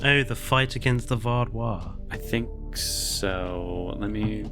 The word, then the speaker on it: Vaadwaar: You're putting an R in there. Is it Vardois or Vardois? Say it's lovely. Vardois. You're saying Var. Vardois. But there's no R.